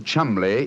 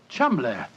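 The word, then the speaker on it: Cholmondeley: Being an American, he had no reason to know that the name Chumbllay is in no way pronounced the way it is spelled. Oh, Joe, I never thought of that. Chumlay.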